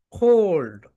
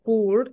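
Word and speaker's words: cold: কোল্ড, ঠান্ডা। আমরা এটাকে বলে থাকি কুল্ড, কিন্তু রাইট প্রোনাউন্সিয়েশন হবে কোল্ড।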